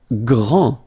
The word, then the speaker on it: grand: Grand. Final day not pronounced. Okay, G-R, gr, gr, gr. And then the nasal en. Grand.